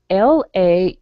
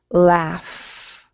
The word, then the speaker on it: laugh: the next word is spelled l-a-u-g-h but it's pronounced it's pronounced like an f laugh okay so it's not